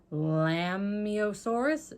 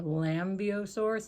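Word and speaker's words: Lambeosaurus: that's gonna go there lambiosaurus if the bee is silent like in lamb or lambio source if it's not i'm not sure but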